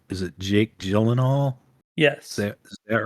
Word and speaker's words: Jake Gyllenhaal: So your mom and I watched Ambulance with, I always get his name wrong. Is it Jake Gyllenhaal?